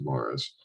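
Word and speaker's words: Maurice River: uh the morris river it's uh spelled maurice but pronounced morris we had our own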